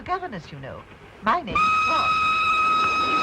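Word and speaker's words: Froy: My name's Troy. You said Troy? No, oh, not indeed. Troy. Sorry, I can't hear. It rhymes with joy.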